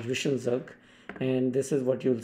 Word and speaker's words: zwischenzug: called zwischenzug, and I will show you the pronunciation by clicking on this. Zwischenzug.